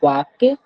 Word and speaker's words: walk: जैसे यहाँ पे TALK बोलता है टॉल्क, लेकिन टॉल्क यहाँ हम लोग नहीं पढ़ते हैं, हम लोग पढ़ते हैं WALK वाक्य, और TALK टॉक, क्योंकि यहाँ पे एल साइलेंट है।